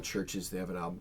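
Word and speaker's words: CHVRCHES: It's Churches spelled with a V. They've been around for a while, but I just discovered them this year. It's Churches. Oh, so the U is a V.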